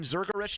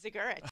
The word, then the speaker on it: Zigurich: Zurgerich, did I say your name right? Zigurich. So you do pronounce the Z. Some people don't. And the G. It's all in there.